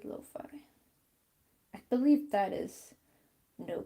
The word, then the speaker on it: lo-fi: was cafe not coffee cafe loafing or lo-fi keep saying it wrong cafe lo-fi i believe that is